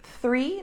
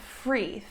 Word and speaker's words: three: th sound okay so for russian speakers a word like three the number three becomes like an f sound free three becomes free okay